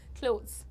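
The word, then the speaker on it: clothes: द pronunciation is almost क्लोथ्स क्लोथ्स जैसे pizza में ज आता है ना वैसे ही क्लोथ्स ज ये भी यहां पर भी वही चीज आता है।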